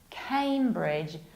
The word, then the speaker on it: Cambridge: And right now another famous county with even more famous university city, which is not Cambridge, not Cambridge. This is Cambridge, like I came back home from Cambridge.